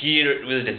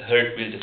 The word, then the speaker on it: Geert Wilders: We said Geert Wilders, but the pronunciation is Herd Wilders.